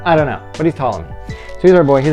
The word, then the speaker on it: Ptolemy: like to say is for some reason the p is silent I don't know why uh maybe he had a thing with his last name I don't know but he's tomm me so he's our boy